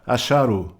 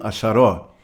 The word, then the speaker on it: Axarô: A antiga meditação chamada Axarô, ou como alguns pronunciam, Axaró.